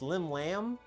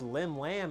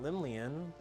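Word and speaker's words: Llymlaen: Yeah, I guess it's Lim Lamb and not Limleian, which is what the pronunciation looks like.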